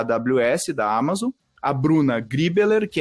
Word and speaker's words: Griebeler: só de ouvir e Bruna griebeler pronunciei certo Bruna muito perfeito inclusive até estranhei porque